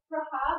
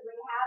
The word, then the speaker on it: Rahab: be cool, especially like Rahab. I like it pronounced that way, but everyone says Rahab, and it's kind of like, oh, Rehab. I can't handle that.